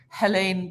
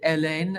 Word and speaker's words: Hélène: I said is it Helene Posh with the H or is it Ellen like the French we dropped the H um Hotel like a